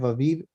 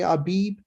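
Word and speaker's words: אביב: Aviv, has happened, but you don't pronunciate the B sound when it's the second letter. So whoever says Aviv is perfectly okay. If they want to say Abib, that's fine too.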